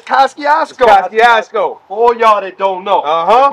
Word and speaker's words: Kosciuszko: They can't pronounce it. The J train worked. But it's Kosciuszko.